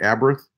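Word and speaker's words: Abarth: the Fiat a birth so they pronounce it the a birth those things are ugly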